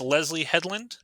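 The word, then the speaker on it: Leslye Headland: the acolytes created by yes I cannot wait pronounced Leslie Hedland is that okay correct I'm not familiar with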